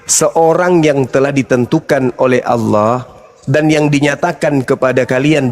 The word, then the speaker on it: Allah: Itu A-L-L-A-H. Itu ada. Ya. Itu bacanya apa? Allah. Karena ini berasal dari Quran, maka kami membacanya Allah.